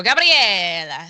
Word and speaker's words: Gabrielle: But pronouncing it Gabrielle is a very common, a lot of people, I've met people from like Italy, let's say, and they pronounce it with like they're singing an aria where they go Gabriella. So it really depends on, who's talking.